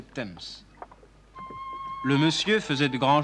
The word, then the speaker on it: Thames: Le monsieur, évidemment, n'y voyait rien à cause de son trop grand chapeau et il tomba dans la Tamise, prononcé Thames.